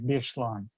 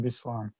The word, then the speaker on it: Беслæн: Поэтому можно встретить, ну, там, скажем, слово «беслан», да, пишется по-осетински, по-североиронски читается как «бешлан». Вот, но по-русски мы говорим «беслан» и так далее.